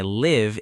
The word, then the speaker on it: live: But if you talk about your home, you say I live in London with a short I sound like fish.